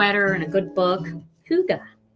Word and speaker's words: hygge: and a good book hygge so how did i come up or